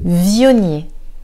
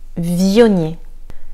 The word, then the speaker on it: Viognier: Viognier. Celui-ci, on va accentuer la prononciation sur le V. Viognier. Le G et le N nous donnent le son gne. Gne. Viognier.